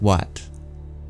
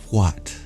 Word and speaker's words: what: You don't need that H there, do we? We could take the H out and it would still be pronounced what. But if you listen to some a little more archaic dialects, you'll hear that H is sometimes pronounced. People say what. They add breath to it.